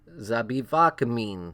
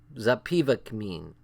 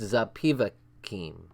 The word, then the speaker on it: Zapivakim: in Brighton Beach, told Zapivakmin, something like that. Can you guys say that? Zapivakmin. Zapivakim. I've been saying it wrong the whole time. It's Zapivakim.